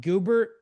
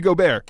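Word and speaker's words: Gobert: which is which is amazing, is that um Goober, is that how you say his name? Is it Goobert? Goar. Go. Rudy Gobear.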